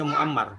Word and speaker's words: Mu'ammar: Taib, kaidahnya kecuali 3 orang yang dibaca Mu'ammar. Selain 3 orang tersebut dibacanya Ma'mar.